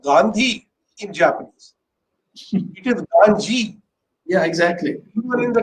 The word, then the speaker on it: Gandhi: And I pronounced it Gandhi, which of course my Japanese colleague said, no, you have to pronounce it Ganji.